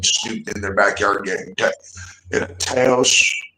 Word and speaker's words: Taos: know that I'm snooping in their backyard getting Taos. It's pronounced tacos, but it's Tacos, New Mexico.